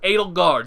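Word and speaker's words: Edelgard: what was ale garden I knew I was saying her name wrong Adel Berg where'd that come from that's what that's why I pause a little bit like I'm saying that her name was not a de Berg Adel guard sorry um so you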